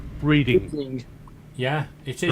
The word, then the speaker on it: Reading: which country's got a town named Reading that's spelt reading? Yeah, it is. Right. It is Reading. It's got silent A.